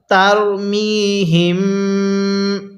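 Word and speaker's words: ترميهم: জের হিম কিভাবে পড়বো তারমিহিম এই যে মিমটাকে আমরা নাকের বাঁশি দ্বারা গুনাহ করব অনেকে আমরা এই নিয়মটা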